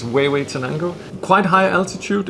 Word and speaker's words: Huehuetenango: It's situated in an area called Huehuetenango. It's not pronounced Hue or whatever you think. It's Huehuetenango.